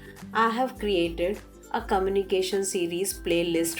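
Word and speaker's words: हाँ: Yes is ha. Again, notice underlined N is showing you that the word to be pronounced using nasal sound, or the sound should go through your nose, passes through your nose.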